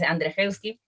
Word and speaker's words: Andrzejewski: De este escritor de apellido impronunciable, Jerjes. Sí, Bueno, Andrzejewski. es Andrzejewski.